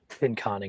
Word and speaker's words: Pinconning: How do you pronounce that? Pinconning is how I would do it.